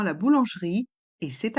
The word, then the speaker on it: boulangerie: en dans le mot boulangerie. Le T de devant est muet. La boulangerie. On a le son OU avec les voyelles O et U. Boulangerie. Le E de boulangerie est muet.